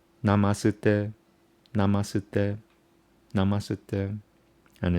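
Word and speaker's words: नमस्ते: You don't say na, ma, su, de. Why? Because it's connected by the top line. So you connect the syllables. So it becomes namasute, namasute, namasute, and it's the magic word.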